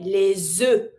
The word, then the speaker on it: les œufs: plural, of course you make your link with the S and your vowel, les. So you pronounce your S to link it. FS is mute. So you just say les œufs. And you just pronounce E sound for eggs.